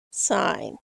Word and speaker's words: sine: what you're talking about same thing for sine we still even though we spell it sin we call it sine it's just an abbreviation as SI n but it's it still represents the word sine not sin so and and we